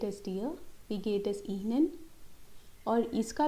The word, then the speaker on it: Ihnen: Yeah, it's not Einen, it's Ihnen. This I has to be pronounced as E, Ihnen. And if you have to